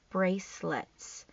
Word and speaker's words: bracelets: our suffix ing making bracelets this C and bracelets is a soft c s because it's uh in front of a e bracelets she wants to put